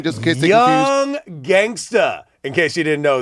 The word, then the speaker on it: Young Gangsta: Young Gangsta. in case you didn't know that. And yes, I am pronouncing that phonetically correctly. That's the way he wants it. Ends with an A.